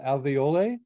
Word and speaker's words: Alveole: joined a company called Alveole. Is that pronounced correctly? It's alveol.